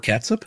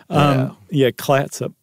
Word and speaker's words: Clatsop: And Fort Clatsop? That's what I thought too, but it's close. There's an L in there. Clatsop.